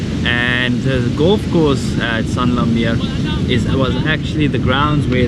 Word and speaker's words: San Lameer: We spoke about it earlier, like the way we pronounce it, we say Sanlam Mir, that is how we thought it was. But if you look at the spelling, it's like S-A-N space Lamir, like Sanlamir.